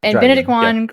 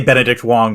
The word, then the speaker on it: Benedict Wong: legit impressive okay good bened Juan he was replaced by Ken watab okay you have to say Benedict Wong was replaced by K Benedict Wong was replaced